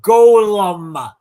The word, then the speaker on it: Golem: He is the author of the Golem Master series, Golem. Say it right. Golem.